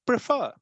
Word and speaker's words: prefer: unstressed second is stressed so if you say prefer we say prefer the first syllable pra is kind of unstressed and fur last one so prefer prefer and